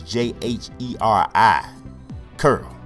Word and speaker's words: Jheri curl: How many of y'all know Jerry curl is spelled with a J? It's Jheri, curl.